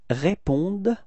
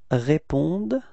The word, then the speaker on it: répondent: don't pronounce them, so E-N-T is actually not pronounced, it's only répondent.